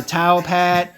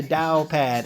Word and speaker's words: TaoPad: it right here you can go to the towel pad excuse me the Dow pad I've been hanging around too many you guys actually said time but uh no it's the Dow pad okay now even in crypto there's things known